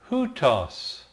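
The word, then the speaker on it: οὗτος: this and that now the Greek word for this is hutos notice the rough breathing the accent on the first syllable this is huts now uh I'll I'll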